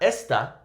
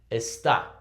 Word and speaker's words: está: Está, right? Not esta, está, okay?